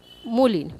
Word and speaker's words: মলিন: শব্দ নেই মনে করো মলিন ম ল রস ন এই শব্দটি কিভাবে উচ্চারণ করব উচ্চারণ করব মলিন কি করলাম মলিন লিখছি ম ল রস ন কিন্তু বলছি মলিন ময়কার ল রশ্মি ন